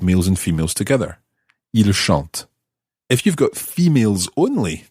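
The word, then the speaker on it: chantent: l l e s c h n el shant okay let's go through the whole of this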